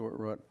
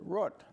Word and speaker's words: Root: last name yes my I grew up wrote I went to college the wrote went the law school route but when I started practicing law in New York City why nobody could understand the name worked they were used to the word route so I had to do in Rome at the Romans do and tailor my pronunciation to wrote my children grew up